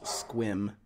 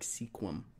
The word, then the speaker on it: Sequim: The one that gets everyone is Squim. Yeah. Squim is probably the one. If you get that one right, people know you're from the Northwest. Because it's spelled Sequim. It looks like Sequim. Yeah, Sequim. Yeah. But it's Squim.